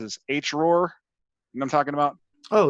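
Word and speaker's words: HROARR: how everybody pronounces this h roar and i'm talking about oh yeah h so you have to say it like your chewbacca okay so there's a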